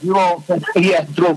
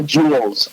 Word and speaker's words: Jewel: Remember, you corrected me for saying that grocery store's named Jules. I say it wrong. Jewel Food Store, yes. Yeah, Jewel. Yeah, Only in Chicago calls it the Jewels.